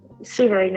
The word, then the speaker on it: Souverain: Is it Souverain? Am I pronouncing that correctly? Souverain is fine, yes.